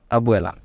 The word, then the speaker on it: Abuela: in English called Abuela you can pronounce it perfectly by splitting into two terms that is Abu at once and e l a at once so it becomes Abu Allah Abuela and grandfather in English